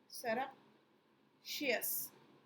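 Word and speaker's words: surreptitious: सरप्शियस, ये correct pronunciation है।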